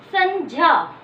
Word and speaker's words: संज्ञा: इसका सही उच्चारण होता है संज्ञा, क्योंकि जय और च वर्ग के अंतिम वर्ण से मिलकर बना है।